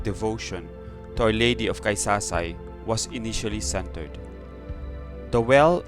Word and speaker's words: Caysasay: known as takasaka side that's why a lady of kaisasai was called before until the spaniards can't pronounce it correctly they called it kaisa aside that's why they called it the early day of quesadilla so this is the